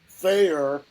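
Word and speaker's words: faer: or gender-fluid identity, and are pronounced with an F sound, replacing the TH sound in they, them. They are typically used in the third person. Faye is going to the park. Fayer, I asked Fayer to help.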